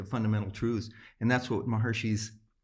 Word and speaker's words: Maharishi: truths and that's what maharishi's he pronounced his name maharishi it's in the west we call it maharishi but maharshi's quest was